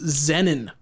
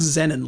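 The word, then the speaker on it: Xenin: This is Xenon. I'll spell that for you. X E N I N like the Zen like our good friend Zenni Garden, but with an N but with an N at the end.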